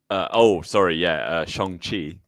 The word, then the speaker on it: Shang-Chi: Shang-Chi. It is Shang-Chi.